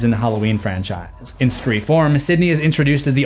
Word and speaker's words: Scre4m: Yes, that is the correct pronunciation based on the spelling, Scree form.